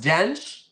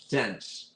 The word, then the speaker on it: Dench: 1 is Dench oh it's pronounced Dench not a k sound Dench Dench how about that